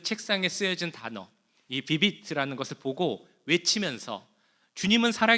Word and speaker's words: Vivit: 어, 그 단어는 어떤 단어냐면 오늘 주보에도 나오고 아까 화면에도 나왔던 비비트라는 단어입니다. 비비트 어떤 의미일까요? 비비트 이게 뭘까라고 주보를 보시면서 혹시 생각하셨습니까? 자, 이거는 라틴어인데요. 비비트라고 읽습니다.